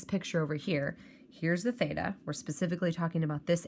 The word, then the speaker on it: theta: a horizontal line through it and that is pronounced as theta is used to represent the angle so the